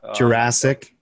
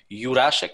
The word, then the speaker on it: Jurasek: Pretty close, but Jurasek. Jurasek with silent J. Then there is Sh in my last name, but Jurasek, just like the movie, is fine.